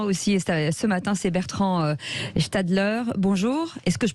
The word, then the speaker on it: Gstalder: commerçants des artisans aussi ce matin c'est bertrand stadler bonjour est ce que je prononce bien votre nom voilà vous êtes directeur